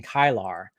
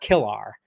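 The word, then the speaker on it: Kilar: I think they said it's actually Jason kylar not Kar kylar anyway so and there's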